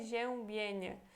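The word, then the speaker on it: przeziębienie: uma palavra difícil né RZ é como se fosse então um J em português então aqui temos fé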